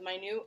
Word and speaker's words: minute: say minute instead of my new and we would have to have this whole like discussion of like hey man like I know that it's spelled minute but it's actually pronounced my new and then we would